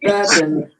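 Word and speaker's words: Bourbon: called BN bber yeah a bour but you pronounce it bouron B yeah I only have two at a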